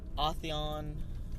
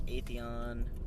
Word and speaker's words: Atheon: crota with new mechanics we've seen authion ISO say it's Atheon it's always funny whenever you finally hear an actor pronounce it the way the studio has always pronounced it and you go but that's totally not how we've been saying it in any case we've